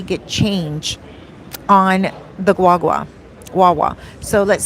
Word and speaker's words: guagua: It's spelled guagua, Guagua, but it's really pronounced wawa. Okay, you don't pronounce the G, so wawa, and it's a great source of traveling here, transportation.